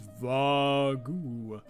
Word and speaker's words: Vargoo: Mine's Vargoo, the monkey answered gleefully. Vargoo with the U silent.